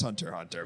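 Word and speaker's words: Hunter × Hunter: but I know it's Hunter Hunter but spy family too it's just a it's a quirk of Japanese titling that the X's silence you know what dude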